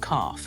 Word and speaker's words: calf: And calf, it's the same thing.